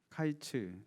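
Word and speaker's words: קַיִץ: 말하는 것입니다 1절에 보시면 여름 과일은 히브리어로 카이츠 라는 발음이 인데 2절에 나오는 이스라엘의 끝에서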